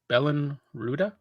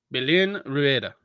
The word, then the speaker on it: Belén Rueda: I gotta help you out with this one. I'm trying not to destroy because it's Spanish and I can like pronunciate Spanish. Yeah. J. Belen Rueda. Belén Rueda, thank you.